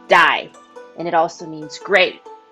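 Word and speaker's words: 大: on the surrounding mountains with the character for big which is pronounced die and it also means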